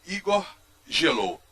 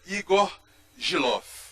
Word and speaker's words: Igor Gielow: Bom, nós o lemos na Folha de São Paulo, quase que cotidianamente, e aprendemos a pronunciar o nome dele como Igor Gelou. Mas ele me ensinou que é Igor Gilov.